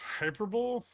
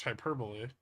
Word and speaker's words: hyperbole: my whole position now pronounced hyperb no it's pronounced hyperbole who the [ __